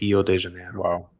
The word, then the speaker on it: Rio de Janeiro: There's no R in Portuguese at the beginning of the word, so it's Rio de Janeiro.